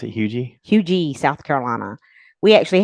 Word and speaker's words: Huger: It's Huger. How you? Well, But the people who live there it's pronounce actually it Hugie. It's spelled Hugger, yes.